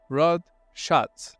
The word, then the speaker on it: Rod Schatz: Executives H this time my guest would be Rod Shotz and please tell me if I pronounced it correctly you got it R really